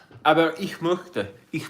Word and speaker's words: ich: The ich is pronounced like ish. Yeah, ish. You're right. I remember that. It would be ish.